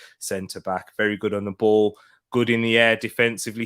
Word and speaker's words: Basel: was at ball uh or basel you guys may recognize but he's actually pronounced ball um yeah derrick ray